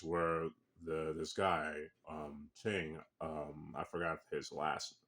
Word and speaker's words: Qin: Um, this story takes place during the Chin Dynasty or theQing Dynasty and it's spelled uh Q I N.